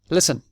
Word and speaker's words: listen: verb every day I listen remember when we spelled listen the T is silent we write it we don't say it listen every day again every